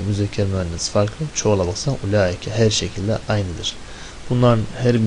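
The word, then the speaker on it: أولئك: Ulaike şeklinde okunur bu. Elif var yok. Onlara dikkat et. Gizli vardır ya.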